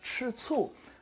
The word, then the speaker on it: 吃醋: So this one is pronounced 吃醋, and it actually means to be jealous at someone.